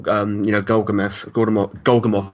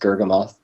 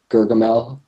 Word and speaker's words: Gurgamoth: The most common mispronunciation is Gurgamel.